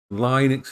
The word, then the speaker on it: Linux: I must say Linux instead of Linux because Linux is wrong. It's Linux. I'm supposed to pronounce it as Linux, not Linux.